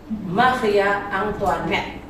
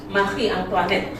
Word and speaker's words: Marie Antoinette: Maria Antoinette. Yang kalian sebut Antoinette. Antoinette bacanya Marie Antoinette, yaitu istrinya si Louis ke-16.